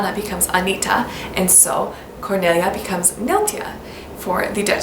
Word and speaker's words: Cornelia: story and that is Cornelia her name would have probably been pronounced Cornelia this is of course